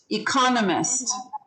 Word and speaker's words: economist: second syllable second syllable economist economist second second again um how about economic